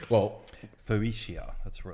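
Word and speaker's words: Phocaea: Well, Phocia, that's where it's from. So 600 BC, P-H-O-C-A-E-A. Phocia. Phocia. Phocia. Rhymes with 40.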